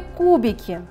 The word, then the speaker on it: кубики: В слове «кубики» первый слог является ударным, слог «ку», а слоги «би» и «ки» являются безударными.